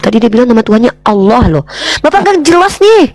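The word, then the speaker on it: الله: Kalau kami Allah, lamnya tuh kalau ada sama tasydid itu ada 3 tuh. Allah ditafkim bacanya ditebalkan. Allah bukan Allah ya.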